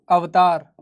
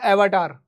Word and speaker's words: अवतार: अंग्रेज अवतार को अवतार नहीं बोल पाते। They are pronouncing a एवरटार।